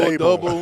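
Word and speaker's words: Daboll: I was told Dayball. Like table? Yeah.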